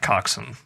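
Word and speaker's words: coxswain: spelled Cox Wayne but I think it's pronounced like coxen okay interesting and he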